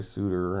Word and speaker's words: Sutter: He must be like French Canadian because he goes by Suter and my last name's Sutter.